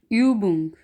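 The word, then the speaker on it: Übung: आगे है ऊ उमलाउट की आवाज़ यानी कि यू, इसको हम ऊ को जब उमलाउट होगा तो इसको पढ़ना है यू। और इसकी एग्जांपल है यूबा, यूबा, या फिर यूबुंग, या फिर यूबुंगन।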